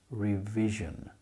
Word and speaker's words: revision: it should be lady and we have revision re re e that's the long sound at the end of a syllable re then you have